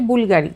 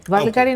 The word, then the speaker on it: Bvlgari: সেই সম্মানার্থে গ্রিক সেইজন্য এর প্রোনাউন্স হচ্ছে বুলগাড়ি বালগারি না হলে প্রনাউন্স হচ্ছে আমরা